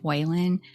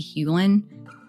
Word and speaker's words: Hulen: completely mispronounced his name I said Whelan but it's actually Hulen and we'll go back